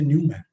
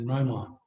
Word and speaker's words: Neumann: Is it Dirichlet, like values given, or is it Neumann, like, because here in India people say Neumann, but actually the German pronunciation is Neumann.